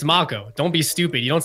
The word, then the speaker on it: Mako: of people watching, and I'm like, guys, it's Mako. Don't be stupid. You don't say Mako.